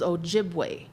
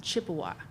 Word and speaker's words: Ojibwe: butchered that name and they couldn't say Ojibwe. So over time that became Chippewa. So Ojibwe is actually the correct way to say that.